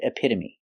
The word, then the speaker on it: epitome: they're very special because they end with e but the E is not silent we pronounce them all the same with a long e like green beans hyperbole vigilante and epitome today we're going to